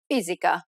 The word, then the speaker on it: fisica: S can also take on a Z sound when it appears between vowels. Casa. Cortese. Fisica.